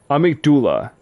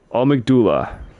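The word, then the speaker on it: amygdala: Well, how's how is it pronounced? Amigd amigdullah. Okay. So, that's how you properly pronounce it. Amdullah.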